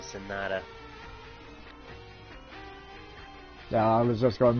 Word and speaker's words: Sanada: Arata Sanada. It's actually Sonata.